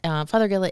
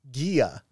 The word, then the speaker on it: Fothergilla: look this up because I love the way you say that father Gilla it almost sounds like Father Gilla and I always said Gia but it's not you're right because it's named I guess after Dr John father Gill who was a Quaker